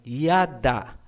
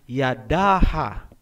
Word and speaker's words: Yada: Hindi po, kasi ang A ay binibigkas kung may susunod pang syllable. Kung wala nang susunod na syllable pagkatapos ng last letter, hindi na po bibigkasin ang tunog na A. Gaya halimbawa ng salitang Yada. Ang ibig sabihin niyan ay praise o pagpupuri. Hindi po binabasa na Yadaha.